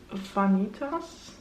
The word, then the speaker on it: Vanitas: The first pan that I hit in the second quarter is Vanitas.